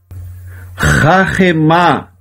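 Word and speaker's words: חָכְמָה: O Shevá aqui ele é mudo, por isso que lê horma, e aqui ele é pronunciado rahemá.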